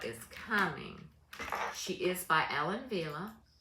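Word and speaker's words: Ellen Wille: coming she is by Ellen Villa Ellen Villa you know that's not a w it's a v it's a w but it's pronounced with a V so she reminds me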